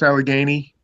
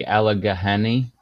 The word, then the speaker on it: Allegheny: I was like, look, it's nothing like the way it's spelled. It's an Indian word. Like they just go with the way people say it.